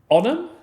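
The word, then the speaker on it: Onam: that's I I I'm terrible at pronouncing so it's spelled o n a m onum onum I got it correct I got the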